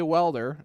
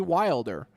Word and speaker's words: Wilder: We can't say Welder. It's got to be Wilder.